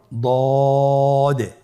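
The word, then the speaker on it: ض: দদের মাখরাজ জিহ্বার গোড়ার কিনারা সামনের উপরের 2 দাঁতের গোড়ার সঙ্গে লাগিয়ে উচ্চারিত হয়।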